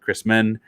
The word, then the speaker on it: Chrisman: named Ben Chrisman um spelled like Christmas but Chrisman um I he did not